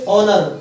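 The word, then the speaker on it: honour: सीख जाओ इंग्लिश में जिनमें एच साइलेंट होता है उसको हम ओ से पढ़ते हैं इसको पढ़ेंगे ऑनेस्ट ऑनेस्ट इसको पढ़ेंगे ओनर ओनर अब बेटा अगर उच्चारण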